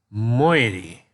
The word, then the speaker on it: moiety: of such slave one I believe this word is pronounced moiety so again this definition